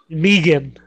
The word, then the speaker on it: Megan: Holly twice elbow Anthony Meegan it's spelled Megan but it's Australian pronunciation let's just think what